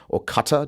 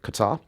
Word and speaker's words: Qatar: I do believe, I'm not Arab, but I believe that the correct pronunciation, the Arabic pronunciation is Qatar.